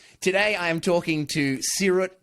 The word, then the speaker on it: Seerut: pronunciation of Seerut?